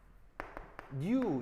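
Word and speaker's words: ν: 왜냐면 대부분의 화학책들은 그 표현들도 많이 써서 요걸 쓸 건데 이게 이제 그 뭐라고 읽냐면 읽을 때 new 이런 식으로 읽어요.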